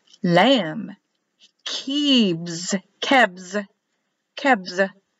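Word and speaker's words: כבש: Lamb, kebs, kebs, kebs, k, e, b, written as a b, but pronounced as a v, e, and s.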